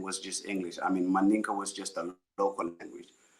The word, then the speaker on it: Mandinka: Mandinka.